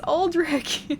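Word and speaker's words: Aldrich: we can all agree it's uh alri no it's not alri it's alrick it's both uh you're probably going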